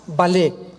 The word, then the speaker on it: Vallée: El más grande experto en ufología o en ovnis se llama Jacques Vallée, con B de Víctor y doble L.